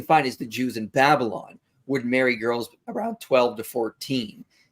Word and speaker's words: Babylon: Yeah, I have to correct you. It's actually pronounced Babylon. So just so you know.